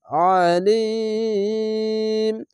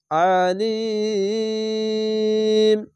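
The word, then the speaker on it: عليم: আরজি হবে ওয়াসিউন আলিম আলিম একে আইন পড়বেন আলিফের মত উচ্চারণ করবেন না আইন জ্বর আলিম আশা করি আপনারা বুঝতে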